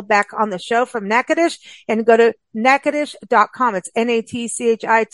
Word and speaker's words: Natchitoches: have Nicole Connell back on the show from neades and go to neades docomo c h s and I think I pronounced that right did I do it okay